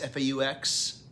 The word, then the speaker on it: faux: This has all the, do you pronounce it Fox, F-A-U-X? Faux. Faux, is that how you pronounce it?